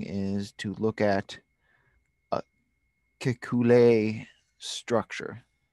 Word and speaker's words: Kekulé: I mean, the first thing is to look at a Kekulé structure. Kekulé or Kekulé. Spell it.